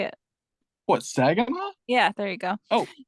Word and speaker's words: Saginaw: Saginaw.